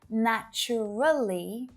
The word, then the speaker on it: naturally: the same with naturally most of my students will pronounce naturally with four syllables right but when a native speaker says this word out loud usually you'll only hear three syllables naturally naturally naturally so